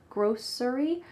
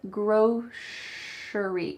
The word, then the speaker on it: grocery: Actually, you can say grocery with an S, grocery, but you're more likely to hear, at least that's what I say, you're more likely to hear grocery, like an SH.